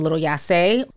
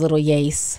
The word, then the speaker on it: Lil Yase: never heard of him i was kind of little yasay but i found out his name is little yace and he was killed